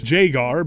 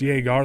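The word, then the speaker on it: Jagar Tharn: look of it mostly them mispronouncing jagar Thorn's name as Jaggar but I don't care I won't back down it's jagar like Jagermeister I'm going to link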